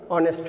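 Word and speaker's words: honest: এখানে অনুচ্চারিত এইচকে যদি আমরা বাদ দিই, এইচকে যদি বাদ দিই তাও উচ্চারণ অনেস্ট হয়, এখানে হবে এন, যদিও ওটা কনসোনেন্ট।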